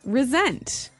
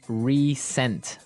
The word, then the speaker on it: resent: Resent. Okay, now this is spelled exactly like resent, like with an S, right? That's right. R-E-S-E-N-T. But you pronounce it like a Z.